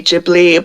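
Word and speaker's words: Ghibli: like the gibli movies is it jibli I don't know how you pronounce it I say gibli although I think people have tried to tell me that it's officially jibli but I just I'm sorry it sounds weird yeah it's it's like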